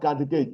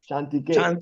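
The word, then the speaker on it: चान्तिके: Kantike, not cat, not Kantike. Chantike. Chantike. Cha. Cha. Tat. Tat. So in Sanskrit, CA is pronounced as cha. Not ka. Cha.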